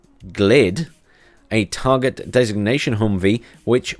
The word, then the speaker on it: G/VLLD: New ground vehicles fall into either one of two categories: the new M1025 Humvee G/VLLD, pronounced GLID, a target designation Humvee which will treat with exceptional optics, and the new FAV, Fast Attack Vehicles family.